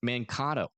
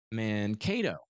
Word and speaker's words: Mankato: Mankato. Gotcha. It rhymes with tornado.